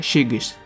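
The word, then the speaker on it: шығыс: La palabra este en cirílico se escribe así, que se pronuncia shigis.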